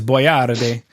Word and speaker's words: Boyardee: canned italian food called chef boyardee as we say in english but i think in italian it's boyatay yeah as if it